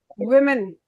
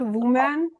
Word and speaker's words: women: Women. Not woman. Not woman. Women.